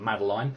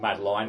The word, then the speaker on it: Madeline: I'm going to be pronouncing her name as Madeline. I don't know whether it's technically Madeline, but I figure if it was, it would be L-Y-N at the end, not L-I-N-E.